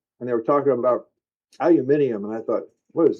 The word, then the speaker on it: aluminium: Um, aluminium or aluminum? Man, don't even get me started on that one. We're Americans. who say aluminum, but the Brits say it as they say. We say the right way. Aluminium. And they may be right.